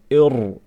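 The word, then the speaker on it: ارجع: Okay, so this hamzatul wasl, if we see it before a ra sakin, then we make the ra strong. Irji'. You're not going to say irji'. La. Irji'.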